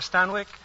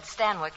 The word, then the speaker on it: Stanwyck: Chicago Daily News Barbara stanik finds what's that stanik well that's how they said Stanwick in England stanic it rhymes with zanic oh and if zanic